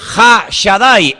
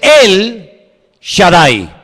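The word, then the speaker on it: El Shaddai: Ja solamente hay uno así que en hebreo no dice ha Shadai el todo poderoso sino dice él Shadai él en hebreo significa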